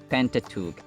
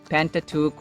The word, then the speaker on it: Pentateuch: requested word is pentateuch pentateuch pentateuch or pentateuch we have two valid pronunciations pentateuch or pentateuch can you give it